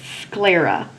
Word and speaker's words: sclera: that with me Libra now this noun has two syllables first syllable is squee